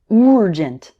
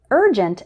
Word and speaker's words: urgent: number of students involves words like urgent, which they might pronounce with a strong U sound like urgent. But urgent and urban actually start with more of an sound, like in bird or early.